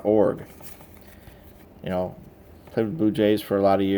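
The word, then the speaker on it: Iorg: Shu, McGee, Brown, Babyloni, Best, Fletcher, Stanley, Behringer, Kingman, Urbeck, Stewart, Show, Org. I've heard people try to pronounce the I, but we always heard Garth Org.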